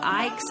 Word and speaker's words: Ickes: It's Rob Ikes and Trey Hensley. His name is spelled unusual. It's Ickes.